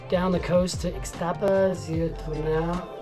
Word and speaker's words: Zihuatanejo: trip, surf trip down the coast to Ixtapa, Zihuatanejo. How do you say it? Zihuatanejo.